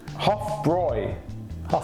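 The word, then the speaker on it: Hofbräu: third i'll tell you the huff boy house hoff broy brewer house obviously in even we were called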